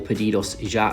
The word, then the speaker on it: Pedidos Ya: So it's called Pedidos Ya, or Pedidos Ya as the locals would pronounce it.